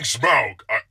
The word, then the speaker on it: Smaug: Are you hearing Smug? Yeah, that's what I'm hearing. I'm saying Smaug. I couldn't be any clearer. Like the word? Like a smug look? Smaug. S-M-A. That's not important. Smug is spelled with a U, by the way.